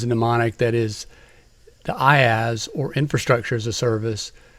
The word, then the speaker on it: IaaS: The first three are pronounced IaaS, PaaS, and SaaS.